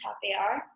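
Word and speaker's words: tapear: a third for it which is pronounced top AR and it means to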